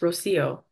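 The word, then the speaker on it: Rocío: Oh, sorry, it's pronounced Rocio.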